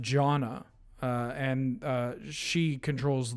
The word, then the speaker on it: Janna: any kind of sweeper jaina no it's pronounced janna uh and uh she